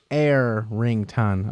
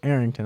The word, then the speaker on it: Arrington: what a crazy comic Arrington pronounced air ringtone okay so Arrington I'm sorry about that